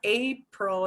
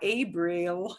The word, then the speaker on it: abril: We crunch the il at the end, abril. And it's not April, it's not Abril, it's abril, abril.